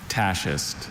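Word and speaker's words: tachist: Tasist.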